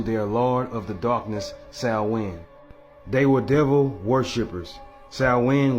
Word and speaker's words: Samhain: It's spelled like Samhain, but it's pronounced as Samhain.